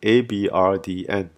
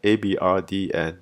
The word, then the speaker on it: abrdn: Aberdeen then continued its branding mishaps by renaming itself to Abrdn, pronounced the same way but spelt without all the E's.